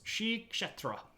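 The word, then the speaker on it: Sri Ksetra: right here which is sh chetra um let me get back over here and I'll type that in for you notes uh this is pronounced Shri like Sri Lanka and then you kind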